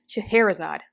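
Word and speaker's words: Scheherazade: from time to time oh I was pronouncing it wrong shaherazad excuse me shaherazad this novel is very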